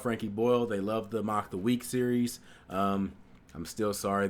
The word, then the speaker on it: Mock the Week: I'm still sorry that I pronounced it mock up the week the first time I saw it that was my mistake I did not know any better there was a